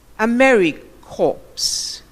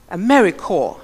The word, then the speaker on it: AmeriCorps: one comes to mind one particular speaker said America hopes and we know that a corpse has an e at the end so cor PS students is AmeriCorps and not a very coarse or cadet corpse okay the rebuttals the